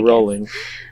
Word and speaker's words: Rowling: Rowling JK Boeing rolling JK pronounced like bowling there we go rolling um who uh other